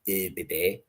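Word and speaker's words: ÖBB: But I was told I was saying it wrong. It's supposed to be UB there.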